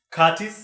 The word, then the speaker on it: Curtis: Curtis is my name. Yes. The silent T. With a silent T.